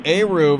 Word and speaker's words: Eruv: Yeah, the Eruv, or Eruv as I mispronounced it, the Eruv.